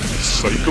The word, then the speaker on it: Saiko: our information well phonetically cycle is pronounced like the word psycho in english so we're looking for